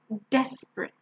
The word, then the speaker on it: desperate: and the last one desperate remember again it's not a it's a and we stress the first one desperate alright so if you